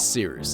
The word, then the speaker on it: Cyrus: Anyway, my name is Seerus. It's spelled like Cyrus, but not like Sea Rooster. Just take out the tur.